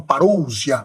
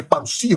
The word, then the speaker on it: parusia: ele disse que ah o termo parusia Alguns falam parousia mas é parusia porque nós temos omicon e ús que é um de tongo que pronuncia-se como u e o Sigma não tem som de zero grego é s de S é bichão mesmo hein doido é